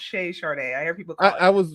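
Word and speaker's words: Chez Charde: me so just to be clear it's actually pronounced shay chardee i hear people i was worried about that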